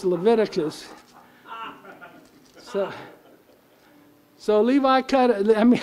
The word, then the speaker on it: Leviticus: let's see somebody said they pronounced that levi cut us and i said i think it's leviticus so levi cut i